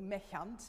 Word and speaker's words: méchant: If you're going to mash up the French and the German a little, mechant, if you want to pronounce it in a German way.